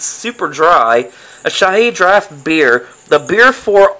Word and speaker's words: Asahi: And what we got for you today is something very foreign, very unusual, like, I think it's pronounced Asahi. Asahi.